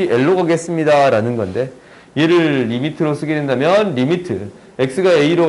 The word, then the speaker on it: lim: 림이라고 적는데 LIM 리미트의 줄임자예요. 오케이? 리미트라고 읽을게요. LIM이야.